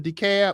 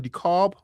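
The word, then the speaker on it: DeKalb: Y'all remember when I first talking about this, I was mispronouncing decab. I was calling decarb.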